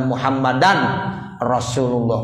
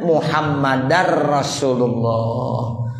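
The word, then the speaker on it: محمدا رسول الله: Maka cara yang benar adalah ashadu alla ilahaillallah wa ashadu anna muhammadar rasulullah. Jadi sudah menjadi idgham bila ghunnah, sehingga bunyi nun hilang. Suara tanwin juga sudah hilang. Wa anna muhammadan sudah tidak seperti itu lagi. Sehingga menjadi muhammadar rasulullah.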